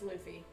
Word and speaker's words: Luffy: Nathan pronounces Luffy wrong. Yeah, I know. It's Luffy.